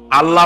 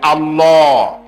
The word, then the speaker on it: আল্লাহ: নাম আল্লাহ বলেন তো আল্লাহ নয় কিন্তু আল্লাহ হচ্ছে অশুদ্ধ শুদ্ধ হচ্ছে আল্লাহ বলার সময় মুখটা গোল হয়ে যাবে বলেন তো সবাই উচ্চারণ করেন আল্লাহ আবার বলেন আল্লাহ আবার বলেন